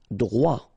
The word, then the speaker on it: droit: Irrité, droit, so final T not pronounced.